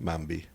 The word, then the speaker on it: Mombi: Mombi. Who's Mombi? Or Mombi? What How do you say it? Mombi. Mombi? Mombi? It's like Bambi, but Mom.